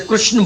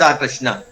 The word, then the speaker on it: कृष्ण: का के नीचे री, क्री, जैसे गा के नीचे री, ग्री, का के नीचे री, क्री, कृष्ण, कृष्ण।